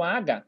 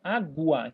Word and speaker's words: água: Eu falo U, eu não falo aga, eu falo água.